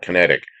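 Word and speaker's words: Kinetiq: It was built by a British company called Kinetic, spelled with a Q. Q, you can it's figured out, Kinetic.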